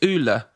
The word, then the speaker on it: Ole: I'm not a pro coach and Ollie somehow Do you know that his name is actually pronounced Oola?